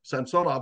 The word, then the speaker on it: Samsonov: He didn't care if they called him Samsonov or Samsonov, but Samsonov was the correct pronunciation because the middle syllable is always accented on a 3-syllable Russian last name.